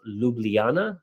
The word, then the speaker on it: Ljubljana: That's pronounced Ljubljana, if you were wondering.